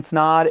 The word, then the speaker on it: Snaadt: My name is Snaadt, it rhymes with odd, and welcome to another video.